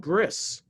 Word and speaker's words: bris: And the covenant, because circumcision is called bris in Yiddish, the Yiddish pronunciation, but that's the Hebrew word brit, which means covenant.